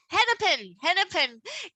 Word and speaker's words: Hennepin: Hennepin County ADA.